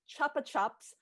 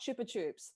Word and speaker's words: Chupa Chups: In the modern lexicon, it's pronounced chuppa chups, not chupa chups.